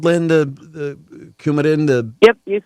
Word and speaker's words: Coumadin: The Coumadin?